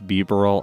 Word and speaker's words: Bibarel: I think it's Bibarel. I looked up the Pokedex entry pronunciation for it, so I'm going to go